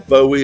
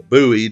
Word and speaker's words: Bowie: David Bowie or Bowie or Buoie depending on your personal taste of how to pronounce it uh was a British rock pop star from Brmley in Kent.